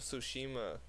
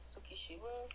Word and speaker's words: Tsushima: The fucking Ghost of Tsushima. That's hard. I love that game. Ghost of how do you say that? Tsukishima? I think it's Tsushima.